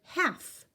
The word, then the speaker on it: half: half the L is silent it doesn't make any noise so this is the word half we need to cut